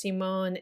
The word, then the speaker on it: Simone: Her mother's last name was Simone. They ended up pronouncing it Simon.